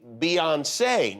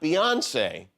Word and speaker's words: Beyoncé: So it's actually Beyoncé, not Beyonce.